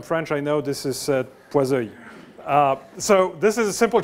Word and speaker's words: Poiseuille: And don't tell me this is not pronounced the right way. I'm French, I know this is Poiseuille.